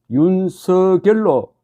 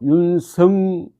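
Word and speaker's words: 윤석열: 불어주는 경우는 매우 드물다 그러나 그러다 보니 이런 후보자 본인이 원하는 발음을 인지한 사람은 윤성수 10 혹은 유승 열로 발음하고 그렇지 않은 사람은 표준 발음대로 윤서 결로 발음하고 있는 것이다 자 이제 본인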